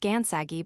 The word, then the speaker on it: Gansagi: The same name, however, pronounced Gansagi by the Cherokee was applied by them